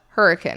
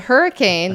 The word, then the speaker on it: Hurricane: And yes, it is spelled like hurricane, but if you're from Southern Utah, you call it Hurricane. It's Hurricane.